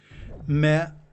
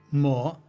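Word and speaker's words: 么: Me or mo is an interrogative final particle. It may be pronounced me or ma or mo.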